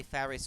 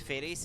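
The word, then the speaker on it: Faris: F FY I I I know never know if I should say ferris or FIS because they pronounce it FIS and it sounds like the Latin for cat so I ask FIS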